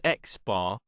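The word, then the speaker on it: x̄: of the whole population symbol of sample mean is pronounced as xbar whereas symbol of population mean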